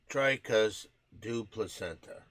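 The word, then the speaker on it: Dricus du Plessis: It's pronounced Dricus du Placenta.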